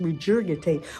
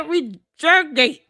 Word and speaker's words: regurgitate: They just regurgitate whatever. Um, why do you keep mispronouncing this word?